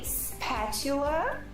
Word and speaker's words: spatula: going to pronounce it the U is not pronounced ooh it's pronounced uh it's a short sound like I mean yeah